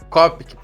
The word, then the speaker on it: Copic: nome é copic copic é simples não é muito difícil pronúncia não cop é tranquilo isso exato Ah tenho